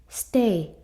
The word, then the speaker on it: stay: stay 이렇게 써주시면 되거든요. 우선 스에다가 트 써주시면 되는데, 항상 이렇게 s 뒤에 오는 이 자음들은요, 소리가 조금 세져요, 여러분. 그래서 트가 아니라 약간 뜨라고 발음돼요.